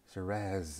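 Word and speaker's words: שרץ: And let's look at the root word here, which is shiraz. Shiraz. Shiraz is the right way to pronounce it. Shiraz. Shiraz. All right. That's the way we pronounce it.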